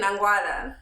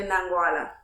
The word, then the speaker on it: Nangwala: Well, you said it Nangwala. It's actually Nangwala with the accent.